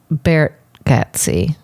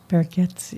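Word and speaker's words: Gargatze: But I think it's Bargatze. Bargatze.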